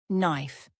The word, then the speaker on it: knife: The letter K is silent at the beginning of words like knife, knock, and know. Instead of saying K-knife, just say knife, knife.